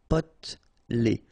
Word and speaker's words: potelé: Potelé. Okay, here you don't really pronounce this E. Potelé.